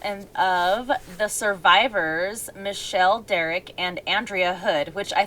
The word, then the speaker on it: Dierich: anyway um and derek and michelle's name is spelled really different too it's it looks like dye rich but it's pronounced derek she pronounced it derek